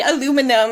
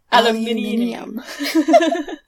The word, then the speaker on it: aluminium: Like, damn, we say aluminum and they say aluminium.